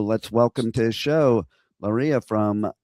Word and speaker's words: Lariyah: And so let's welcome to the show Lariyah from DieveNoire. That's right. Hi. Did I pronounce it okay? Because hate if no worries. It's Lariyah, and the band's name is DieveNoire.